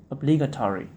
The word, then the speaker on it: obligatory: cancelled oate obligation obligatory the stress is on the second syllable obligatory provide provider provision okay